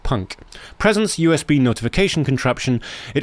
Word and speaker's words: PUNC: I call it the PUNC, pronounced punk.